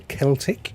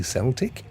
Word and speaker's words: Celtic: Scientists use lichen, you may pronounce it lichen, you're perfectly entitled to do that, to regrow the Celtic, you may say Celtic, you're perfectly entitled to say that, the Celtic rainforest in Loch Lomond, Scotland.